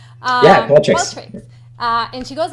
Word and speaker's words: Qualtrics: Yeah, Qualtrics.